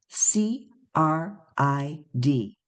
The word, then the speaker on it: CRID: Her talk today brings us a new and important set of initials C R I D pronounced CRID.